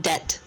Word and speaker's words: debt: Chemist means the word debt. It's like D-E-T. You just say it like debt. Oh yeah. Yeah, the B is silent for some reason.